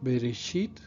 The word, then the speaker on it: Bereshit: Si vemos en rojo 4 letras de la palabra Bereshit, que así se pronuncia en hebreo, estas 4 letras forman la palabra Berit, que significa pacto.